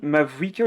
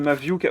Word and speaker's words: Mavuika: C'est moi où tu dis Mavuika ou de Maviuka? Oui, oui, je sais, mais c'est un type de langage que j'ai conservé malheureusement et qui effectivement n'est pas la bonne prononciation.